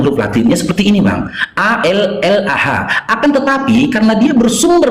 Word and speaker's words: Allah: Tak boleh bacanya Allah, karena cuman abang-abang kan memplesetkannya jadi Allah. Kami harus membacanya Allah. Allah.